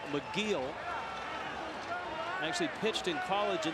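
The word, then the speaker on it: Michiel: plate so van campin who pronounces his first name mcgeal actually pitched in college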